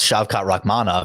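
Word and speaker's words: Shavkat Rakhmonov: should probably get my ears checked right because shot rahmanov has been said about 10 times in the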